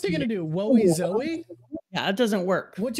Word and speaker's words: Zou: We talked about this, and everyone agrees that it's pronounced Zo, but we thought that we like Zao better, so we might just do that. Can I just put out there that Zao is cooler?